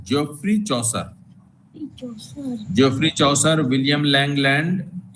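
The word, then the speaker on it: Chaucer: लेकिन उसका सही प्रोनाउंसिएशन जो है अंग्रेजी का वो है जियोफ्री चौसर।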